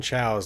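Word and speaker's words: Cao: how to pronounce Sloan Chow's last name, the head of the Barons Rangers in Atlantic City. And it's because it's spelled C-A-O, which apparently is pronounced Chow.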